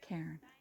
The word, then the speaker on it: cairn: upon another cairn and that's spelled c-a-i-r-n karen that's a trail marker